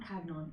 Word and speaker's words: Hagnon: Not retinue, encampment is Captain do you say Hagnon? Hagnon.